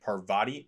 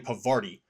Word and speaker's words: Parvati: For the longest time, I was saying Parvati or I'm sorry, it is Parvati. For the longest time, I was saying Pavari and that's not right.